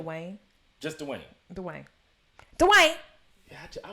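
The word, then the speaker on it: Dwyane: the previous seasons, he is kind of like Dwayne Wade. I'm not Dwayne Wade. Yeah. Dwayne Wade. Wayne. What? Nah, what's his name? Now I'm messing it up. What's his name? Dwayne.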